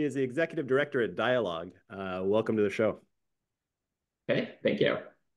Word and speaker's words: Decalogue: He is the executive director at Decalogue.